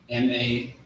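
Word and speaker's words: מה: M-A-A-H. M-A-H. Here you go. No sweat. It's all good. I like the handwriting though. Most High in Christ. So that's ma. Ma is how you would pronounce what.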